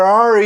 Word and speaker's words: are: Então, where are you from? Reparem que eu não pronunciei o E do are. E eu não pronunciei o E do where.